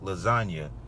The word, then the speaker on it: lasagna: So he said real G's move in silence like lasagna. So, but it's technically, he just saying, you know, there's a silent G in lasagna.